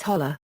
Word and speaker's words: hollow: features in rural areas it may be pronounced as holler Hollows may be formed